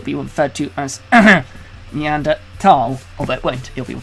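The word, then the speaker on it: Neanderthal: heard to it as meander fall is that a preference a preference and there's no H sound when it's pronounced in French and German it's something that I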